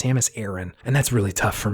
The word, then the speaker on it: Samus Aran: although it's pronounced I in in game it's pronounced Samus Aaron and that's really tough for me I've been